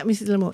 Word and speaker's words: Lamour: j just ask can we ask about Miss lamore's thoughts sorry did I pronounce that right did I pronounce your name right yeah M lore okay yeah can we ask about Miss lore's